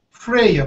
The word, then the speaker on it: Freya: wanted to name her Freya pronounce like if are a spell if are EJ a pronunciation friar and Freya yes I will